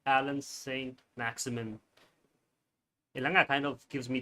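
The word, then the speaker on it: Allan Saint-Maximin: How do you pronounce his name? Alan Saint Maximin.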